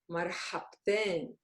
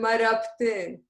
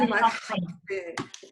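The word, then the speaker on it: مرحبتين: I heard marabtin. I didn't hear marhabtin.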